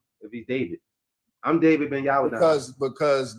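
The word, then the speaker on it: Deyhwihd: I'm saying my name is David. David with a W, not your D-A-V-I-D. My name is spelled D-E-Y-H-W-I-H-D. That's how you spell my name, David. That's how you pronounce my name, David.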